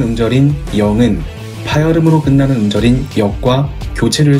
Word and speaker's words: 逆: 쓰를 역은 어떻게 만들어졌을까? 이 글자의 발음은 역, 뜻은 거스르다, 반대하다, 부수는 갈차, 총 10획입니다.